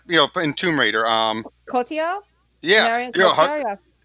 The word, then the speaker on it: Cotillard: Cotillard, Yeah, Marion you know, Cotillard.